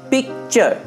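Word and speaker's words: picture: তাহলে নেচার, ফিউচার, পিকচার, এটা কিন্তু টুরে উচ্চারণ হবে না, টুরে উচ্চারণ হবে না, নেচার, ফিউচার, পিকচার।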